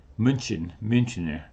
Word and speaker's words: Münchener: The beer today will be Apolliner, Municher Lager, Münchener is how they pronounce it in German.